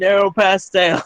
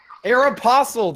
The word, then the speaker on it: Aeropostale: Jack says Aeropostale. Aeropostale. There's no stole. Say that again. Aeropostale.